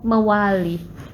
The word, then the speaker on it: mawali: When you said suksma, I answer mawali. Мавали. О, so difficult. Здесь есть другие звуки, которых у нас нету в языке.